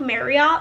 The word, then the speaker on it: Marriott: spell it out and it's spelled like Marriott like the hotel but they say it rhymes with Harriet so Marriot she's like